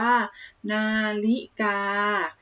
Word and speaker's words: นาฬิกา: คัน เลข หนึ่ง พม่า คำ นี้ อ่าน ว่า นาฬิกา นา ริ จา นะ คะ อ่ะ นาฬิกา